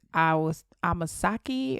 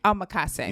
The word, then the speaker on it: omakase: I think it's Amasaki or Omakase? Omakase.